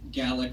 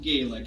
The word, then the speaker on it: Gallic: of the Native European gallic Rose typically it would be and it's not Gaelic I'm not mispronouncing it this is the 2L one everybody just so you